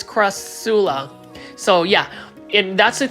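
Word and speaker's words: Crassula: I'm working on it I was calling it CR um kusala but it's Cula so yeah and that's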